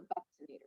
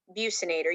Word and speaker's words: buccinator: this is called the buccinator you remember this is named for a body region a buckle is cheek and so or the bucinator you can pronounce it i've seen it pronounced both ways but this is an